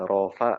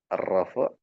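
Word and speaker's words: الرفع: Kalau kita biasanya dibacanya rafa nasab, jer, jazm. Ya, enggak apa-apa kalau mau baca baca gitu silakan. Yang penting ketika nanti baca versi bahasa Arabnya, Ibu Bapak bacanya benar. Arrafu nasb wal jar wal jazm.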